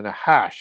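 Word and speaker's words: נחש: But also you had the original Nash or the Nahash as it's pronounced in Hebrew which is that serpent that's mentioned in the Bible who deceives Eve.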